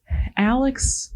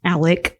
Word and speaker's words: Alec: okay that's good well Alex Murdock Alec I mean Alec Murdock which he spells it Alex so he needs to like not that he's gonna listen to this but which one is it Alec Alec I went to school with an Alec but his name was a-l-e-c well sure that's how